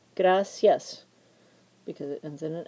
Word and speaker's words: gracias: put an accent over gracias which does not belong because gracius has two syllables and we put the stress on the first one because of the rule second to last syllable gracias because it ends in